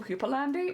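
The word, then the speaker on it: houppelande: how to pronounce cupalande oh it's just hoopalan Hooper land Hooper land okay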